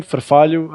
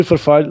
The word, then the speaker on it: Farfalho: On the GT Tribe, you just have to insert the nickname Farfalho. I'll type it here on the chat on Twitch. Because of the H, it's a bit tricky for non-Latin speakers to pronounce it.